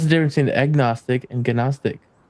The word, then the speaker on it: gnostic: I don't say G. No, no G.